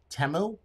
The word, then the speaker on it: Temu: at versus mine where do you buy yours temu is that where you buy and yes that's